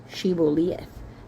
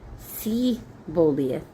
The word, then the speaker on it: Shibboleth: Shibboleth. S H I B B O L E T H. If he said Sibboleth, like didn't pronounce the H.